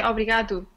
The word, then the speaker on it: obrigado: 2 tudo bem obrigada do I say obrigado obrigado I was wondering about that oh yeah well that's yeah that's that's good you say obrigado it's just I had